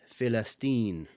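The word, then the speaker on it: فلسطين: the term Palestine well in Arabic it's not pronounced Palestine it's pronounced with the letter in the Arabic language which is called far which is festine that's why Arabs can't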